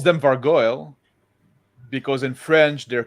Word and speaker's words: vargouille: I always pronounce them Vargoyle because in French they're called like Vargouille and it's look like gargoyle, like gargouille. So I always pronounce them like similar to gargoyle, but with a V instead of a.